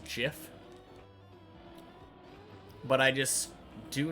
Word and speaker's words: GIF: Sure, he might have made it, but just because it's spelt like giraffe doesn't mean that you say the G like giraffe. It stands for graphic.